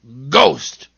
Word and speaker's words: ghost: And I know of one word where H is silent in the middle. Ghost.